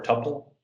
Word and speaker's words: tuple: do this as a as a tuple or tupple or a pair depending on which thing with you're coming from and how you like to pronounce things I call them tuples sorry if that's not how you pronounce them so the tuples are